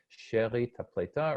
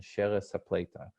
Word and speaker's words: She'erit Hapletah: series title She'erit Hapletah, or you can see here as it's spelled out, She'erit Hapletah, or in the Yiddish pronunciation, Sheres Hapletah.